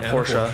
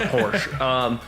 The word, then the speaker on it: Porsche: And the Porsche, where I found out that's how it's actually pronounced, not Porsche.